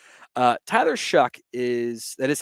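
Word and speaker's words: Shough: way through as a backup Q uh Tyler shuck is that is how it's pronounced by the way with even though it's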